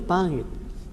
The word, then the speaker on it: pangit: Um exemplo do nga é a palavra pangit. O que significa pangit? Panget. Pangit. Panget é feio. Feio. Pangit. No meio da palavra tá o NG.